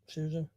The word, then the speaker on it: Scherzer: I never can pronounce it. Sherza.